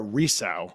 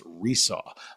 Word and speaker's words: Resau: wonderful, talented uh Laura Risau, Resaw, sorry, Resaw. I actually asked her, made sure I understood how to pronounce her last name. It's Resaw, like you were going to saw something again.